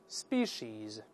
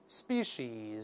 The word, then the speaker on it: species: 下后面物种这个词 species species，后面也是发长音 is，